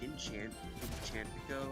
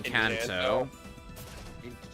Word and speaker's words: Encanto: They can release a great film like Enchantico, I think that's how you say it, was really Encanto.